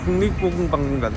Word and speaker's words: 국립고궁박물관: 물론 중정기념관이라든지 아니면은 국립고급박물관이라든지, 발음이 이렇게 어렵냐? 국립고궁박물관.